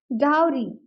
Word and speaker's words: dowry: भी आप नोटिस करेंगे डाउी वर्ड को हमने टू सिलेबल्स में डिवाइड किया है डाउ और री फर्स्ट सिलेबल पे हमने स्ट्रेस दिया है और सेकंड सिलेबल को हमने एज इट इज बोल दिया है सॉफ्टली बोल दिया है डरी डरी आप यहां पर डाउ की प्रोनंसिएशन को काव के साथ भी कंपेयर कर सकते हैं कि इन दोनों की प्रोनंसिएशन सेम होती है डाउ री